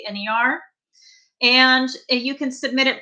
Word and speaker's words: Wagner: Everybody always spells my name wrong, but it's with one L, A, and then Wagner, like the composer, Wagner.